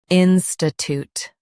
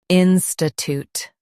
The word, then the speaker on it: institute: In US, stress in and say toot. In UK, stress in and say choot.